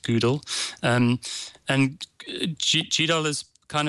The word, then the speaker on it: GDAL: or gdl gdl and the author pronounces it google um and gdal is